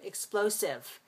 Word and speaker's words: explosive: and then we have the adjective explo sieve where the s sounds as it normally sounds sieve explosive and explosively is easy